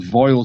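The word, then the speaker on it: Foel: Well, actually, I think it's pronounced Foil Studios if it's in Welsh, but it's spelled like foal anyway.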